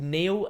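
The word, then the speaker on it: N31L: just the head anyway it's called Neil and it's spelled N3 1 L you pop that head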